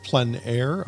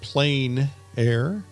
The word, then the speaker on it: plein air: term for painting outside the French pronounce it Plein Air others pronounce it plain air but no matter how